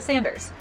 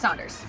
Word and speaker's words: Saunders: And you might look at the box and say, Emma, that's a Sanders. No, it's Saunders.